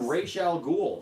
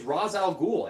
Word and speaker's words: Ra's al Ghul: him race I started calling him Rachele ghoul like that's not his name is Ra's al Ghul everybody knows his name is Ra's al Ghul what where all the sudden did this stupid race can't come from like and and like the the arrowverse wants to call him race all the time and his name is not race that's annoying so you